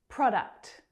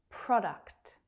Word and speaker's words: product: Product. Product. Make sure you are pronouncing the last 2 consonant sounds in this word. K, t, k, t. Product.